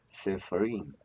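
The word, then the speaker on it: ספרים: Well, we don't have any accent mark, so the accent falls on the last.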